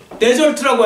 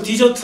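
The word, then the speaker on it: desert: 영어로 데절트라고 하죠. 그것도 잘못 발음은 디저트 하면 먹는 거지만 데절트 하죠.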